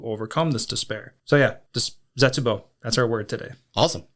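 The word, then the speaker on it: 絶望: And despair is zetsubo. Zetsubo is spelt Zetsubo.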